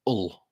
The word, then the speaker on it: Hull: And I'm surprised I pronounced the H then as well. It's normally Hull.